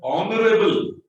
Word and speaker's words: honorable: But honorable, our. We don't read the H. That's why it is silent.